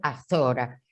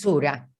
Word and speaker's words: sura: La primera sura, en castellano se dice azora, pero es sura.